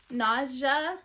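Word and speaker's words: Nadja: It looks like we have another Naja style. Nadia, N-A-D-J-A is how you spell it.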